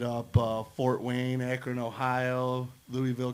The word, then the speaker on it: Louisville: Hit up Fort Wayne, Akron, Ohio, Louisville, Kentucky, or Louisville, as they like to pronounce it. Yeah, don't say Louisville down there, man. They'll shoot you.